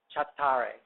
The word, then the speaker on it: chattare: They even spell it wrong because in Italian a CH would be k, not ch, but they spell it CH and they say it like they shouldn't say it, but then they conjugate